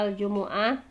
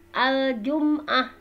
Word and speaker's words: Al-Jumu'ah: al-jumu'ah Nah di sini Al Jumuah itu kalau kata para ulama ini bisa dua cara cara bacanya Yang Pertama ada yang didomahkan yang mememnya ya aljumuah ada juga yang disukunkan mimnya Al jumah boleh dua-duanya ya Ada Al Jumuah